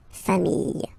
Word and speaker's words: familles: the plural form, les familles, okay, remember, chien, singular form, chien, same pronunciation, but you put this S, okay, final S, not pronounced, famille, singular form, famille, plural form, same pronunciation, S, not pronounced.